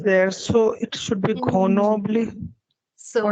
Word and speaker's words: Grenoble: and I know that they pronounce it as Grenoble, and that is the reason I am telling you that ye iske syllables हैं, and so you have to pronounce it like this. Okay. It could have been Grenoble because you see that oh hai isme to, but then it's not.